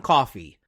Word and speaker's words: Coffey: But when the movie starts, a 3rd inmate arrives, a very large man named John Coffey, pronounced like the drink but not spelled the same, played by Michael Clarke Duncan.